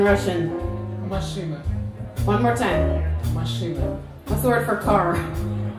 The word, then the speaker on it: машина: Машина. What's the word for car? Машина.